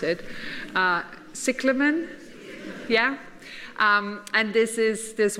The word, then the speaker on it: Cyclamen: botanical word, and I will not attempt to pronounce it. Cyclamen?